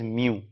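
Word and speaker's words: μ: इसे प्रोनाउंस किया जा सकता है एज म्यू। ठीक है, जैसे बिल्ली म्याऊं करती है उस तरीके से म्यू, राइट।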